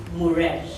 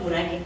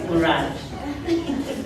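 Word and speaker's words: Mirage: So mine is with Muraj. Not Murage. It's Muraj.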